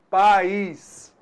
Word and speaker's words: país: Você então vai notar aí que a gente tem uma semivogal i, tá? Pais, houve um declínio, né? Então o som ele diminuiu. Pais. Muito diferente da palavra país. Pronuncie então pais. País. Você notou aí?